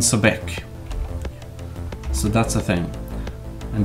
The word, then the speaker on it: Sobek: pronounce any name wrong I'm just said Sobek sorry I mean so BEC so that's the thing